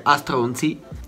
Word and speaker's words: S Tronzi: La S Tronzi, che si legge Astronzi, e poi ultimo il